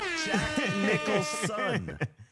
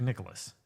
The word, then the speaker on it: Nicholson: said Jack what Nicholas you said Jack Nicholas it's Nichols I believe that says